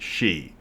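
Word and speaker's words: sidhe: word is s-i-d-h-e it's spelled sid he but pronounced she just because this irish like to jack with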